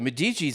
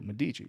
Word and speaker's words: Medici: Medici. Yeah. Yeah. Yeah. I'm also maybe saying the name wrong. No. Medici's right.